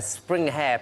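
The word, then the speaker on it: springhare: Now, this is actually a spring hare, pronounced spring har.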